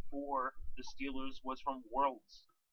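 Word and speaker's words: Worilds: the Steelers was from Worlds I think that's how you say his name it's kind of like world but with an eye in it so anyway the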